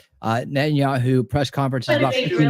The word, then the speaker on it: Netanyahu: I just want to run through the net and the Netanyahu. I'm saying it wrong. Netanyahu press conference is about 15 minutes.